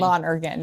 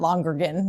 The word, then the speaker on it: Lonergan: Lonergan. Lonergan, not Longergan, as I want to pronounce it.